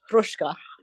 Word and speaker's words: Hruska: He got him out 6 months early because he called Roman Hruska, who was a good old Bohunk, Democratic Bohunk. Yeah. His name is spelled Hruska, but it's pronounced Hruska.